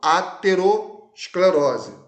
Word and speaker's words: aterosclerose: tá a gente chama de placa de ateroma aterosclerose se pronuncia assim agora a arteriosclerose a interior esclerose